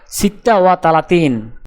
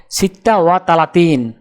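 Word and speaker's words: ستة وثلاثون: আরবি ক্রমিক সংখ্যা 36 দেখতে এরকম, উচ্চারণ হবে সিত্তা ওয়া তালাতিন। তাহলে 36 ক্রমিক সংখ্যাটির আরবি উচ্চারণ হবে সিত্তা ওয়া তালাতিন।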